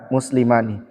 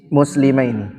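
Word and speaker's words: مسلمان: Ada alif nun di belakangnya berarti isim musanna. Bacanya jaa muslimani. Tidak boleh kita bilang jaa muslimaini. Jaa muslimani.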